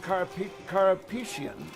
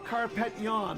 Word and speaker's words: Carpeccion: So, by the way, I've been calling him Carpetian, and his parents politely reminded me that was not spelled the same way. But they said carpet yawn. They said like yawn, and then they mimicked the yawn.